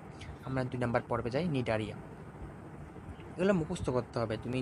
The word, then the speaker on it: নিডারিয়া: প্রশ্ন আসতেই পারে যে নিডারিয়া নামটা কোন জায়গা থেকে এসেছে?